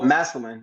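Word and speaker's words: Massillon: what do you mean the city is it masalon oh masalin yeah Mas Ohio masin Ohio uh that's really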